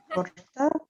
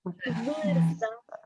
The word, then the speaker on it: vârstă: Forta? Is the one that's hard to pronounce. Forta? Forta? I'm gonna type it. Vorsta. Vârstă.